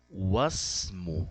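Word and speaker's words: وَاسْمُ: Wasmu, ó, ignoramos o hamza.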